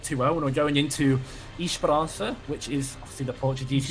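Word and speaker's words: Esperança: Yeah, it's a East Bara, I believe, is how you say it. Um the the S and the A being cut the A being cut off from the name by native Portuguese speakers.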